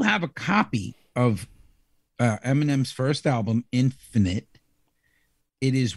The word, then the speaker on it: Eminem: a c that's silent Eminem's kind of cool because it's spelled e-m-i-n-e-m so which isn't really M and M like the candy yeah it's pretty pretty catchy